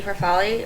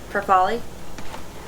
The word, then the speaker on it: farfalle: It's the mini Farfalle or mini bow tie. What did you say? Farfalle. It's Farfalle.